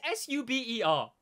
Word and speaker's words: Sauber: It's spelled Sauber, so I don't want to hear it from you. It's Sauber, all right? That says Sauber.